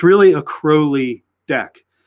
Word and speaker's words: Crowley: him alistair crowley not crowley he says crowley rhymes with holy that's that's what he